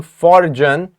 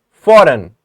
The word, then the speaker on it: foreign: We do not say the letter G. We are not saying forgan or forgan. We are saying foreign.